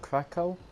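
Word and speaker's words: Kraków: We checked out the place we were staying called Krakow. Yeah, Krakow. Some people say Krakow, because I think the pronounce said W's there as a V.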